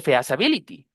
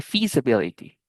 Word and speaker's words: feasibility: Entonces, no se dice feas ability, ¿cierto? Porque si ya entendimos la regla de la de la i larga, sabemos que la e y la a comúnmente se pronuncian y y aunque nunca hayamos visto esa palabra, podemos pronunciarla de manera correcta desde la primera vez. Y eso es lo que queremos que todos alcancen con la parte de fonética. Se dice feasibility. Fe, feasibility con i, no con ea, porque no se dice fea.